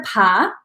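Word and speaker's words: pays: Then you have vin de pas. P-A-Y-S is just pronounced pas.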